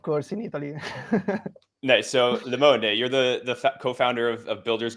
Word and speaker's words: Limone: Limone, right.